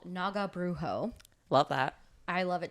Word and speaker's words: Naga Brujo: Texas I believe so Texas band um called Naga brujo love that I love it too and yes I did ask them how to pronounce their band name so she how do